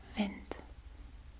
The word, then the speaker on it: wind: a little bit different wind is pronounced as Vint so the D is pronounced a little bit harder to vent okay so